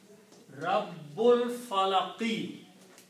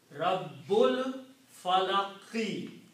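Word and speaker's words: رَبِّ الْفَلَقِ: So when you read them together, you do not pronounce this Alif. Rabbul Falaqi. Very important to correctly pronounce Rabbul Falaqi.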